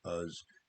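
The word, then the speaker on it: Uz: called uh in the in the english way we would pronounce it as us uh and um so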